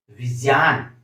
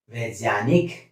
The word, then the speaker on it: विज्ञान: ये ज्य ज्य, इसका उच्चारण होगा ज्य य ज्य। विज्ञान वैज्ञानिक, इस तरह से हम उच्चारण करेंगे।